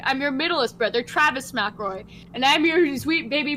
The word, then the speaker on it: McElroy: It's McElroy. What the fuck are you saying? Macklemore. Says Macklemore? Says McElroy. Macklemore. Macklemore. Thank you. Thank you. MC says Mick. Elroy. It's McElroy. That's how they pronounce it.